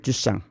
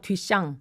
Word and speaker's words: 뒤샹: 작가가 들어보셨나요 누구 누군데요 마셜 듀상 어 뒤샹 아니 발음이 예 마셜 뒤샹 밖에서